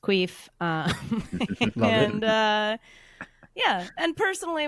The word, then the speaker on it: QUIF: It's pronounced Queef.